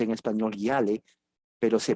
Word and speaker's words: Yale: El segundo evento, porque le dije que eran dos, sucede similar en la gran universidad puritana Yale, Y-A-L-E. Se pronuncia en español Yale, pero se pronuncia en inglés Yale.